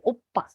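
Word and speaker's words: 오빠: yaitu Pa jadi kalau kita baca ini tulisannya kan Opa pakai ini ya Jadi bukan Oba ya dibacanya tapi Opa nih berikutnya Ada Sa ini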